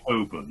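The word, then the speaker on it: Holborn: Hi Hoben, which is the name of the street, the name of the road is Hi Hoben.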